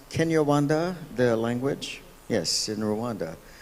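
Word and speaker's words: Kinyarwanda: exchanging notes and that is that uh it's pronounced Kenya Wanda the language yes in Rwanda is is not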